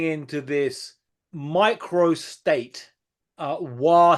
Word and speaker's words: Wa: this micro State uh W State the correct correct pronunciation W state which is basically maybe